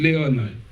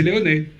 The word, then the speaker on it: Leone: Moi, j'ai toujours dit de Léon. Mais vous avez prononcé Léoné. Alors, comme vous avez un très bon accent italien, d'après ce que j'ai pu entendre, c'est Léoné.